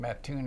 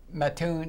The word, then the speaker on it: Mattoon: No, I was born in Mattoon, Illinois. In where? Mattoon, Illinois. How do I spell it?